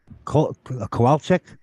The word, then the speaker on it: Kowalczyk: We have a very special guest with us, two very special guests, and Kowalczyk, correct?